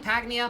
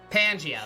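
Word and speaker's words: Pangaea: Is that the thing, Pagnia, before the continent separated?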